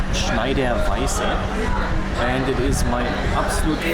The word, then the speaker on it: Schneider: right here's the story behind this it is pronounced schneider and it is my absolute most favorite beer